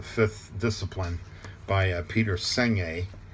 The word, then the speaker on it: Senge: discipline by uh peter seng it's pronounced it's it's spelled s-e-n-g-e but it's pronounced seng-a he talks about learning